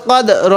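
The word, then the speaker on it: القدر: আমরা হালকাভাবে উচ্চারণ করব এই দালের মধ্যে ধাক্কা দিয়ে রো টা হালকা করে উচ্চারণ করব এরকম ভাবে যখন দুইটি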